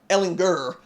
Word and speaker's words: Ehlinger: Talk about it's Ehlinger with the hard G.